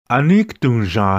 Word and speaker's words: aniktunja: The way you would say this is, aniktunja hai. You hear the music? Aniktunja hai. Did you notice that I said the A sound at the end of this word?